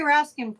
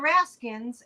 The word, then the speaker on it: Raskin: was, because they would keep also mispronouncing his name and say, well, Mr. Raskins, and it doesn't have an S on the end.